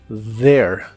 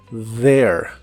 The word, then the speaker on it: there: suave here here y usaremos la palabra there que significa ahí la th se pronuncia como una d vibrante there there y usaremos la palabra